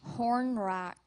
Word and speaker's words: hornwrack: Contestant, your word is horn rack.